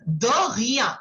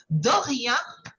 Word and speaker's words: de rien: So, the pronunciation is air. Okay. From your throat, like how we did for bonjour and merci beaucoup. Okay. Similarly, you will say de rien.